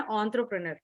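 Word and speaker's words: entrepreneur: इसका प्रोनाउंसिएशन है एंटरप्रेन्योर, क्योंकि अगर कस्टमर एंटरप्रेन्योर।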